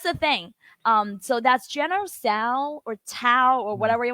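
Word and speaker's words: 左: So that's General Tso or Tao or whatever you want to pronounce it. It's actually Zuo, which means left.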